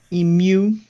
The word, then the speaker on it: emu: Emu. Yeah, that's Mhm. how it's pronounced, and it is surprising how many people say it like that.